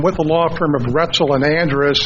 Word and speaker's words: Roetzel: the law firm of Roetzel and Andres that's our OEt ze l but it rhymes with pretzel Gretel and Andres on